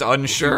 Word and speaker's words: Unsure: And his partner, Unsure, is also very Oh yeah, it is just straight up pronounced Unsure.